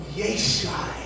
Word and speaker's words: Yeshai: The name Jesse in Aramaic is pronounced Yeshai. Okay? Jesus' name in Aramaic is pronounced Yeshua. Are you seeing it? Both Yeshai and Yeshua are derivatives of the name Yeshua.